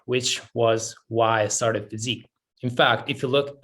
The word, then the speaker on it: Pheasyque: In fact, if you look at the name, which of course is spelled like physique of the body, right? Mm-hmm. But there's an easy in the word. So it's PHEASYQUE.